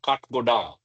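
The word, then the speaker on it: Kathgodam: ashoke like ashoke mentioned kh is pronounced Cut. Cut as in timber. Oh, I see. Yes. Okay. Got it. And godam is a corruption of godam. So cut godam.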